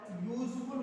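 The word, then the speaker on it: useful: अगर हम इसके प्रोनाउंसिएशन की बात करेंगे, साउंड की बात करेंगे, तो पहले या आया है, ना कि पहले बड़ा ओ की मात्रा आई। तो स्टूडेंट्स ये ध्यान से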